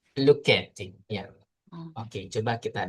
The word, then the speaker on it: Lucchetti: Oke, di sini coba pengucapannya bagaimana? Lucetti. Luketti, ya.